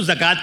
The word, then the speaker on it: زکوٰۃ: اب یہ کہ تلفظ اس کا بگڑ گیا، وہ زکوٰۃ کی بجائے جکات ہو گیا.